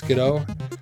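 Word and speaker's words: Skiddo: like Go goat but skoo sko however you pronounce it I always thought of it as skido cuz like kiddo but sko either way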